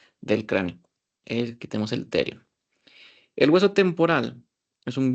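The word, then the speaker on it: pterion: Bueno, que se escribe con P. P-T-Erion. El terion. Que si se fijan, es la unión de 4 huesos.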